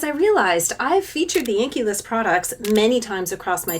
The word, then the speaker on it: The Inkey List: that is called the the inky list it's spelled differently like this but that's what it means and I think one